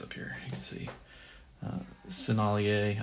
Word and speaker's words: Sennelier: Sennelier, I think it's how it's pronounced. That's French.